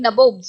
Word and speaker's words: nabobs: of the company became nabobs, means nawabs. Here it is the pronunciation that Britishers used to use for saying नवाब्स, right.